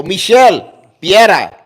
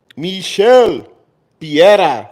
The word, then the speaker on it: Michel Pereira: So Michel Piera for the fucking win.